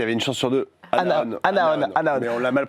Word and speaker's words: Anaon: Anaon. Mais on l'a mal prononcé pendant quasiment tout le tournage.